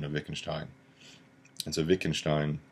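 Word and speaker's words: Wittgenstein: making shine and so Vic and Stein that's the how to pronounce the WI ttg and st ein philosopher Witkin Stein V sound ok so what's an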